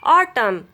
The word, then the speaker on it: autumn: Autumn, column, dam, him. Rule of silent letter P is if a words begin with PS or PN, then letter P will be silent.